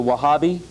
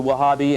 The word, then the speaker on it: Wahhabi: among themselves uh first of all there's the wahhabi now you see on your outlines this w-a-h-a-b-i uh some sources I read only had one H but it's the wahhabi and these are the Puritans uh this is